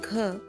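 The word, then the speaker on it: घ: word green green Green the pronunciation of ger is similar to that of Hindi word Ghar which means home the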